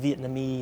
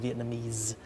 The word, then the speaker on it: Vietnamese: For example, the final sounds like she said Vietnamese instead of Vietnamese.